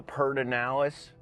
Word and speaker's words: Pedernales: You have to say it as peralis per the the peranalis river. Perd the purd. It's not spelled that way guys.